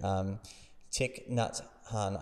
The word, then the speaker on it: Thich Nhat Hanh: And man, that's, I mean, there's a great, I mean, there's this guy I love reading, this Buddhist dude, Thich Nhat Hanh, I believe is how you pronounce his name, sadly passed, and beautiful writer.